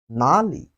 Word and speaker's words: 哪里: Where in Chinese, we say it has two pronunciations. The first one is nåli and nar.